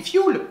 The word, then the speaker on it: fioul: Alors regarde un peu On dit fioul, pourtant ça s'écrit UL.